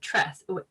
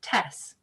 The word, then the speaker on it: TeSS: our api with uh tress i said it wrong tess and tess is a